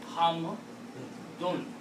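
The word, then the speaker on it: حمد: We pronounce hamd because we stop. And in Arabic, when you stop, then you don't pronounce this noon. But the word is not hamd. The actual word is hamdun.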